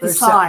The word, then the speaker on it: Versailles: Versailles. Yeah, Versailles.